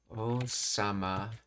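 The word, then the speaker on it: 王様: Wait, I thought OG sama was king. Did I miss a syllable in that? Maybe it was O-sama for king. O-sama. Okay, so it's O-sama for king and OG-sama is prince, okay.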